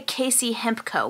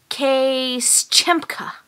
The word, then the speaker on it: KC Hemp Co.: But when he pronounced our company's name, he didn't even say KC Hemp Co., which you would have very, very clearly seen on our website. He said Case Chempka.